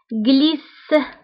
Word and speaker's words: glisse: J en région région glisse glisse donc G تبعها L قلنا كتنطق بج كنقراوها بج glisse glisse وقلنا إلا عندي شي